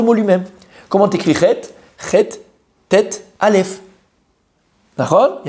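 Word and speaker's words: חטא: Chet, tête, aleph. D'accord? Il y a un aleph avant. Mais on ne le prononce pas. On ne dit pas chata ou chaté ou chato.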